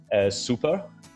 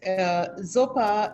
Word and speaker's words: x0pa: gonna start up session with nina nina from super and with the yarn is co-hosting with me